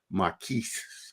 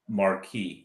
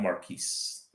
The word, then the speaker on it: Marquis: That's going to be Marriott Marquis, not Marquise. The S is silent.